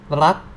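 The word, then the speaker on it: รัก: Okay, and it is now r, a, and this is final consonant ok, so it's like rak, ro, a, go, rak, rak, rak.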